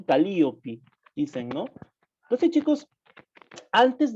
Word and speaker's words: Calíope: Porque ellos no pronuncian de por sí Calíope, sino que hacen una diferente pronunciación al nombre, ¿no? Como que en vez de la E, sonase como una vocal, como la vocal I, ¿no?